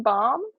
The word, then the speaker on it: Baum: I heard bomb, like B-O-M-B? Yeah, and I was like, now the missiles make sense. I think that's how it's pronounced, bomb, because it reminds me of like lip balm or something.